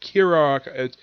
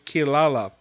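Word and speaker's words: Kirara: It's called Kira. Now, the thing is, in the anime, the English pronounce the name as Kilala, the cat demon that's basically Songo's companion.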